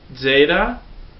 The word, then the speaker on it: Zeta: sound e e Epsilon Zeta Zeta sounds like a z or more like a DZ Zeta Zeta AAA is